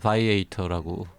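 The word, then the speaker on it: Viator: 아 미 미국식 발음은 바이에이터라고 하는게 맞고요. 네 요거 이제 라틴어처럼 읽으면 비아토르라고 되겠죠.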